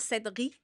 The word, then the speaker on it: Sedghi: Techniquement, on le prononce Sedri. OK! GH, c'est comme le son en persan.